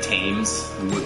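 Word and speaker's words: Thames: called it's like ridiculous you don't pronounce it like it's written yeah yeah um yeah like the the tames was the one that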